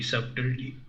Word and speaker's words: subtlety: Am I pronouncing Name it a correct? certainty. Not certainty, subtlety.